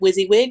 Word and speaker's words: WYSIWYG: was to talk about WYSIWYG that's how you pronounce it what WYSIWYG which stands for what you see is what you get everything I have created here has been used has been created using the Wiz wig editor which is the HTML editor I'm assuming